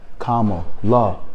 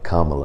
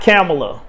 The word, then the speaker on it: Kamala: let's not be disrespectful it is kamla Harris Kamala kamla we like money right you know we like commas comma La it's very simple if you like money say say her name properly Kama K Kamala like mamala people like mamala it's not CA it's Kamala K La K La all right ladies